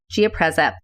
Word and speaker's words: Giapreza: you go to the Gia preza website and it's spelled g-i-a p as in Paul r e z as in zebra a geopreza they have a really great website very user